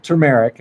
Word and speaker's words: turmeric: It's TUR. So we definitely spelled it wrong. First one. We corrected it in the second. Yeah, so the pronunciation, I hope we're getting it right. Yeah, turmeric, and it's what makes mustard yellow.